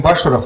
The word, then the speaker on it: Башуров: пользоваться Меня зовут Вадим башуров ударение на Первом слоге Я приехал не из